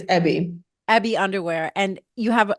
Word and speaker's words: EBY: I am super excited to have you here, co-founder and CEO of, I don't know how to pronounce it. Is it EBY or EBY? It's EBY.